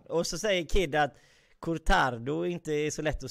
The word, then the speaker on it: cortado: Och så säger Kid att cortado inte är så lätt att säga. Magnus, hur uttalar man det? Ja, men jag har ju bott i Spanien, heter cortado. Cortado.